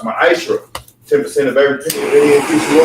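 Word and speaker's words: מעשר: It's pronounced ma'ashra.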